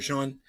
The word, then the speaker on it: Sean: or the other no Brandon lmfa go Brandon Sean AKA trendiorka cheers what's up buddy it's my favorite Sean with a w ow all right so you know s-e-a-n spelling for Sean uh that just shows you how much denial